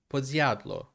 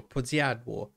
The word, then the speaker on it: Podsiadło: Podsiadlo or Podsiadło.